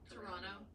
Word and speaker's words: Toronto: Toronto. Toronto? Yeah. Oh yeah. Well, it's that sort of soft D.